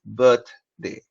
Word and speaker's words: birthday: She did not give you or she didn't give you bird. She gave you birth. So why are you changing it to birthday and birthday? It is birthday. Pronounce it as birthday.